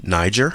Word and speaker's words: Niger: It's a soft G. Niger.